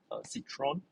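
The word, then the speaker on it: Citroën: a few times okay it's a citroen citron or a french pronunciation as a c4 so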